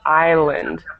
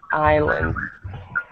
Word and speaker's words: island: pronunciation of that word island island okay so in English we don't pronounce the S okay very good but